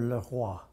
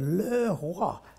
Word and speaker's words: Le Roi: Then I said, do you remember LeRoy? LeRoy is the way my name is pronounced in French, the king. And he said, LeRoy.